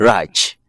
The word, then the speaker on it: Rach: Asia, as we gonna conclude, your name is also pronouncing kind. Let me use Raj. So is it Rach. Raj?